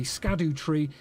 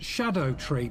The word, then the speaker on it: Scadutree: found out that allegedly scad tree is is actually meant to be pronounced Shadow tree but there is absolutely